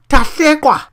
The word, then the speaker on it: Tahlequah: We give you the actual pronunciation of this capital. Tahlequah, the U.S.